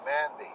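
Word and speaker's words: mindi: even better than that it's called mandy or mindy i think it's mindy is how you pronounce it m-i-n-d-i and the rice and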